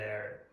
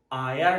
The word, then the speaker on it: air: up in the air. و متوجه باشین که هوا را آیر تلفظ نمیکنین. بعضی شاگردا هست که آیر تلفظ میکنن، تلفظش غلط است.